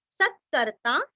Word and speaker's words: सत्कर्ता: सत्कर्ता स के ऊपर आघात, सत्कर्ता वापस स के ऊपर